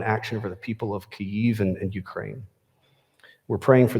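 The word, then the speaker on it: Kyiv: ukraine and specifically in caiv which i learned is the ukrainian pronunciation and we're all going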